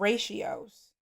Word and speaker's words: ratio: We learned about ratios and ratio is spelled like patio but thanks to American English they're spelled the same but pronounced completely different.